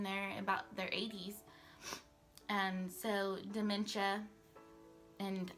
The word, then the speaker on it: dementia: So dementia, and I just learned how to say dementia, by the way. I was calling it dementia. So throughout some of the videos that I recorded before this, I said it wrong like 50,000 times.